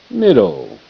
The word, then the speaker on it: middle: Middle. E is silent. This ladder goes, the fence goes between the two D's. One D is silent.